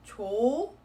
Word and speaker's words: 좋아: And the reason I say that is for this particular carry-on rule, yes, the H is silent. We do not carry that sound on.